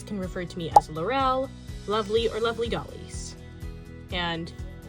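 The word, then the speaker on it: Lorelle: So my name is Lurel and this is the first time I'm sharing my name with all of you.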